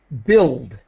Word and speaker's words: build: and build okay good build build yeah just for everybody my advice is the U is silent don't don't just it's like pill like uh we have a word pill or yeah exactly okay